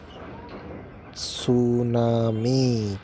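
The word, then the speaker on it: tsunami: entry दिया है note सूनामी correct 16 में की स्पेलिंग बच्चों टीम से शुरू होती है इसमें मिट्टी साइलेंट होता है टीम को हम बोलते हैं तो यूज नहीं करते लेकिन लिखने में करते हैं मैं अकेला बच्चों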